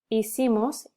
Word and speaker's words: hicimos: So it's hice, hiciste, hizo, hicimos, hicieron. So you don't pronounce the H.